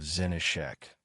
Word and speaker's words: Zenishek: officer with the peculiar name of Zenishek, with the accent on the first syllable, who had somehow senselessly and unexpectedly shot himself.